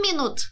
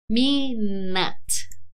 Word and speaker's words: minute: Quero ver de novo a pronunciation dessa palavra. Não falamos minute. 1 minute, please. Eu sei que é muito sutil, mas minute. Eu adoro pronúncia. Eu sou fascinada por pronunciation, guys. Minute.